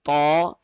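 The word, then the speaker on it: ط: all right so hayan in the letter ta the two dotted we learned that a small area of the tip of the tongue will be touching at the hell now in the case now in the case of thaw more part of the tip of the tongue will cover more area of the Hill while producing the sound of thaw number one in the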